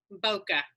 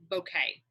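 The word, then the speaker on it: bokeh: going to look up how you say it Bokke yeah or some people call it bouquet so either way okay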